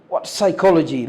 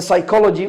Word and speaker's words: psychology: because of my generation so you see the psychology of shopping as you can see the word psychology psychology look at the first later which is part is not pronounced the psychology of shopping the psychology of shopping what psychology